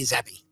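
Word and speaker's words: Zappe: of minutes uh this Bailey zappy is that how you pronounce it zappy or is it it's all they pronounce it it's Bailey zeppy wow does he zap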